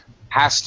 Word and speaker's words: has to: very common combination collocation hastu is going to sound like as to again turning that into